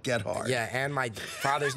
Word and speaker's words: Gethard: It is pronounced Gethard.